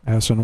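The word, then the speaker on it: Aisin: How do you pronounce that? A-I-S-N, Asen? I just say Asen, yeah.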